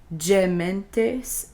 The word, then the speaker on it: gementes: Notice the G is soft here again because it is followed by an E. When G is followed by E or I, it's a soft G. Gementes et flentes.